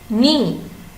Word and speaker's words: knee: the first word is knee knee knee has a silent keg next one wrap rep